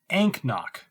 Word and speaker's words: anCnoc: anknoc and k knock and knock oh the c is silent ankno the noctu distillery is